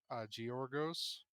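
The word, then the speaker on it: Giorgos: my man, but it's Georgos. Uh, Giargos? Same way yeah. that you pronounce the last name with the Y sound. Oh, really? Oh, really? Giargos?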